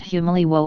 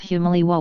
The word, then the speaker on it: Humaliwo: americans named the settlement humaliwo or the surf sounds loudly the city's name derives from this as the who syllable is not stressed the village of humaliwa was located next to